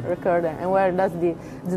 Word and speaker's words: Wreckorder: So I would like to know, before I get wrong, how do you pronounce it? All right, where it's called the Wreckorder. name Wreckorder. Wreckorder. Wreckorder.